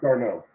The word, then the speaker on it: d'Arnaud: Travis d'Arnaud. There it is. Thank you, sir. I'm not that smart. I'm not good with pronunciations.